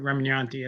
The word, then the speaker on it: Remignanti: new book by Drew Remignanti. I don't know if I pronounced your name Yeah, correctly. yeah, the guy in the videos had it wrong, but Remignanti. It's kind of like lasagna and Chianti.